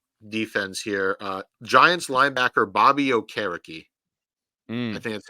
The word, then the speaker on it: Okereke: Giants linebacker Bobby Okereke. I think that's how it's pronounced.